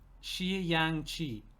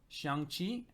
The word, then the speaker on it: Xiangqi: Shi and Yang are pronounced as one. Xiang. Like Xiang? Xiang Qi?